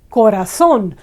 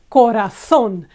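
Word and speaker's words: corazón: Spanish is Corazon Corazon now ending with an N we would expect ra this syllable to be the stronger one Corazon but it's not you've never heard anyone say Corazon in in Spanish it's always Corazon and because again we've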